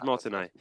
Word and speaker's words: Martinet: Martinet, I think. It's Martinet. It's spelled like Martinet, but Martinet it is.